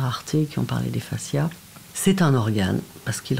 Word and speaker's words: fascia: Alors la fasciathérapie, d'abord ça parle de fascia. Ça s'écrit avec un F-A-S-C-I-A, c'est pas la face, hein.